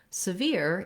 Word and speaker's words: severe: Then when we get to severe, even though we have the same letters as we have in sever, this first letter E is a vowel schwa, which sounds like It's going to be short and reduced. That's because our stress in severe is on the veer syllable.